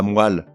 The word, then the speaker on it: moelle: On ne dit pas la moelle, mais la moelle.